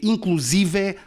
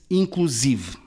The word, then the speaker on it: inclusive: Apesar da palavra terminar num E aberto, inclusive não é uma palavra aguda. É uma palavra grave cujo acento recai na sílaba si. Não se lê inclusive, lê-se inclusive.